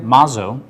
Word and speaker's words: Mazzo: I talked to somebody today, and her name is Maria Mazzo, M-A-Z-O, but I think at one time it was two Z's in All there. right, 2 Z's, pronounce one.